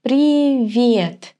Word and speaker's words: привет: Pay attention to the pronunciation. Привет. The sound that the letter V gives me is a little bit soft.